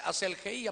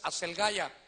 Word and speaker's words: Aselgeia: Y entonces se provocó un clima, hermano, de Asel, allá dice Aselgeía, pero la pronunciación es Aselgaya.